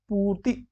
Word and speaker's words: पूर्ति: तो फिर वही शुद्ध शब्द पूछा है, तो पूर्ति, पूर्ति, पूर्ति। ये पू यानी कि बड़ा होगा और तो छोटा होगा, पूर्ति।